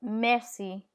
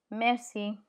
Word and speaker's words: merci: C in front of E is pronounced S. So fiancé or merci, merci.